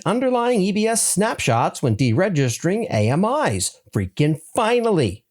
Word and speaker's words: AMI: Amazon EC2 now enables you to delete underlying EBS snapshots when dregistering AMIs. Freaking finally. And yes, AMI has three syllables.